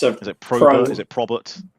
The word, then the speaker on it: Probert: Robert, not Robert with a P. Not although that is the easiest way of getting people to spell it correctly. It's just it's Robert with a P in front.